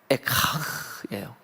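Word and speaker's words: אֵיכָה: 예, 그게 바로 백성들을 바라볼 때는 가엾구나, 이게 에카흐예요. 불쌍하구나, 예, 슬프다, 이게 에카흐. 그래서 그걸 그냥 발음대로 그대로 에가라고 제목을 붙였다고요.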